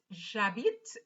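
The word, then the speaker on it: j'habite: repeat so it is jabit because the h is silent so we're going to do exactly as if there was no h at all j so now let's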